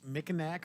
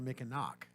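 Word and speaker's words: Mackinac: It is Mickinack or Mickinock. Okay.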